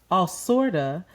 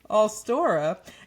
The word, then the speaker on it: Allstora: Award-winning host and drag performer RuPaul has launched All Sorta, an independent... What'd you say? Just what did you say, nigga? This is about reading. What is it? How do you say it? Just say it again. Allstora, an independent author-owned online book marketplace offering more